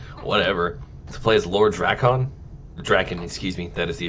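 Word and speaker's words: Drakkon: To play as Lord Draken, excuse me, that is the official pronunciation.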